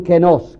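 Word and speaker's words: καινός: Hay un kenos con epsilon, que significa vacío, y hay un kenos, que se escribe kainos, que significa nuevo.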